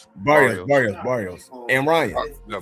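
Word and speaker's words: Barrios: How do you pronounce his name? I forgot. Barios. Barios.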